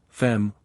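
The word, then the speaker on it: femme: comr is a wret fem woman rhymes with infame Infamous yes I have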